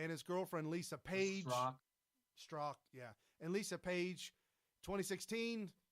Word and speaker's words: Strzok: Clinton probe guy, Peter Storks, whatever. I think it's Stork. There's a Z in it. And I his think the Z is silent. Okay, and his girlfriend Lisa Page. Strzok, yeah.